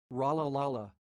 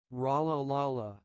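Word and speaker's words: Rolihlahla: Let's look at the correct pronunciation of this word. Like Rala Lala, Rala Lala. And now slower. Rala Lala, Rala Lala.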